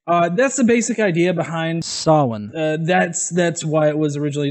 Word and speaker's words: Samhain: Halloween is the Christianized version of Samhain, or Samhain.